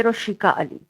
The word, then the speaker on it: Roshiqua Ali: जी आप सही ले रहे मेरा नाम है रोशिका अली रोशिका अली ओके अच्छा तो सबसे पहले आप